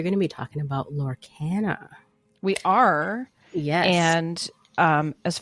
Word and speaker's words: Lorcana: What is the correct pronunciation, Petrus? Do you know? I say Lorcana.